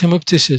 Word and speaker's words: hemoptysis: remember all right and the pronunciation of the root here is a little bit different from when it is hemet but here him we pronounce it as short sound him so him of ptosis